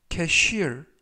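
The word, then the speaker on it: cashier: 사용한다 라는 의미가 되겠습니다 이번 표현은 캐쉬 울 캐쉬 울 캐 슐 이라고 발음 하시면 되겠구요 이때 강세는 알파벳 i 에 강세가 있어서 캐쉬 울 이라고 발음 하시면 되겠습니다 품사는 명사 뜻은 계산원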